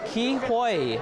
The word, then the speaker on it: Ke Huy: Is it Ki Hui? Hui. Hui. Yeah. Hui. Ki Hui.